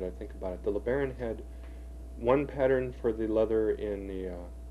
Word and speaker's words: LeBaron: That's a bronze 1961 Imperial LeBaron. You pronounce it just like it was spelled.